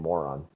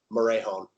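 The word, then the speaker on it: Morejón: God, how do you not just pronounce his name Moron? Morejon.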